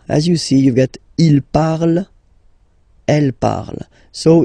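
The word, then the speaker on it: ils parlent: And the last one, so even if you've got this ent, well, don't hate me, but you won't pronounce these letters, okay? You have to write them for the plural form, but you don't pronounce them, so you get il parle, elle parle.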